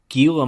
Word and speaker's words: Gila: pal sure let's talk gila monsters yeah my friend is pronounced Gila Gila monster it just sounds pretentious I'll continue to say Gila it's just funny enough